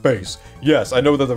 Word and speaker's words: Bass: got wrong or whatever yes I know it's pronounced bass yes I know that the robots and the